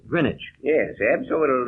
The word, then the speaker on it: Greenwich: name of the place it's spelled as if it were pronounced green witch but it's called Grenich yes AB so it